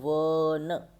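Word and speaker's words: one: आपने देखा होगा ना spelling, वन, ओ एन ई, वन, ओ से शुरू हो रही है, ओन ही नहीं होता ये, ठीक है ना, वन होता है।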